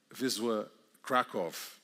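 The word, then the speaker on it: Wisła Kraków: Vizwa Kraov, good pronunciation.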